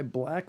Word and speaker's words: BLVCK: episode is also ironically brought to you by black organic coffee that is spelled blvck black organic coffee for the best